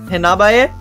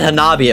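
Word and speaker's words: Hanabie: I'm still kind of iffy on the pronunciation. Hanabaye? I said Hanabi at first, it was wrong.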